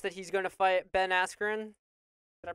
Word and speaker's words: Ben Askren: Jake Paul being, it's announced that he's going to fight Ben Askren. Did I pronounce that correctly?